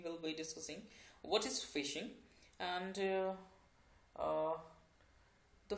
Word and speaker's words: phishing: be discussing what is fishing and the fishing it pronounced like the word fishing okay so fishing is